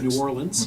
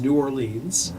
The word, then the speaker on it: New Orleans: you're a songwriter because there are five official accepted pronunciations of the name of the city oh okay there's New Orleans okay there's New Orleans so you listen to dr. John back Robin doc yeah this is Orleans now that said yeah pronunciation on the radio there's an there announcers who call it war aliens kind of three syllables there and then Cokie